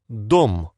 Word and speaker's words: Дом: How is this word pronounced? Дом.